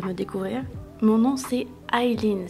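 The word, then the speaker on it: Eileen: Mon nom c'est Aileen, ça s'écrit E-I-L-2-E-N, ça se prononce Aileen. Je ne comprends pas les gens qui m'appellent Aileen, mais je le répète encore et encore, c'est Aileen.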